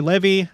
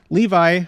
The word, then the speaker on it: Levy: music up a level Levi or Levy as his name implies they sometimes pronounce it Levy instead of Levi uh I'll go with Levy Levy as his name